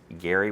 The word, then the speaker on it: Gerry: actually pronounced his name Gary with a hard G, not a soft G, as like a J.